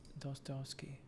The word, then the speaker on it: Dostoevsky: Dostoevsky.